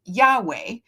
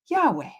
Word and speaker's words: Yahweh: aa becomes Yahweh the YHW right which they pronounced Yahweh and the covenant name of God in Hebrew traditions moving forward.